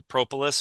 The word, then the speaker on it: propolis: Not sure if it's the propolis or if it's the Everclear. Propolis. I was saying it wrong.